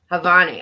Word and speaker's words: Janvi: Is the J silent? I don't know. They don't make sense to me when I try to read them. I always say it wrong. Hey, be nice. Leave her alone, Banks. Come on. Come on. Ugh, leave her alone. Come on. Stop it. The J is silent.